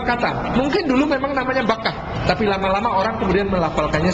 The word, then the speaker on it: Bakkah: Sebab mem dan ba itu dekat dalam pengucapan Arab. Dia letaknya di dalam ilmu tajwid juga, pengucapan di lidah kita itu mim dan ba ini huruf-huruf yang dekat.